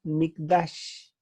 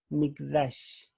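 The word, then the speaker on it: מקדש: Aquí se pronuncia mikdash, mikdash.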